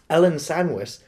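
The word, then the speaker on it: Ellen Sandweiss: So, speaking of returning sort of characters, or returning actors, Ellen Sandwich, is that how you pronounce her name?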